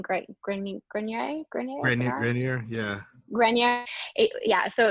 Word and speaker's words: Grenier: Grenier.